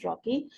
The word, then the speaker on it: trochee: This is called as ट्रॉकी, द correct pronunciation is ट्रॉकी।